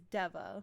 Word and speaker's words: Deva: It's spelled C A O S and this is Deva, like devastation, but like the beginning of the word, that's what they call themselves.